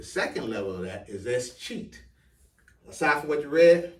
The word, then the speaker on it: escheat: Escheat.